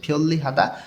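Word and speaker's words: 편리하다: লেখা আছে হাদা সুবিধাজনক নিউনের পরে রিউল ভাতম আছে অর্থাৎ ভাতমের নিয়ম অনুযায়ী দুইটাই ল উচ্চারণ করতে হবে ফিউলি হাদা সুবিধাজনক এখানে যে গোল চিহ্ন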